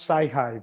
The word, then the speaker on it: Sci-Hi: And it's pronounced Sci-Hi, so the Americans can read it.